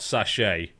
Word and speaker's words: sachet: word, but it's not sache. It's the same. Sache is spelled s a c h e t. Sache from the French.